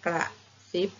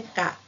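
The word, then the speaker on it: กระติ๊บ: เสียง กระซิบ นะ คะ กระ ติ๊บ ไม่ ใช่ กะ นะ คะ กลิ่น ไม่ ใช่ กิน นะ คะ กริ่ง ไม่ ใช่ กิ่ง นะ คะ เพราะ ฉะนั้น เด็ก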